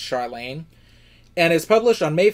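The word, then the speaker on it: Charlaine: I believe I called her Charlene in my TBR, and I apologize, but I think it's pronounced Charlene.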